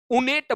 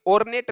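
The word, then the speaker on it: ornate: तो उनेट बोला जाता है, ये ऑर्नेट नहीं बोला जाता।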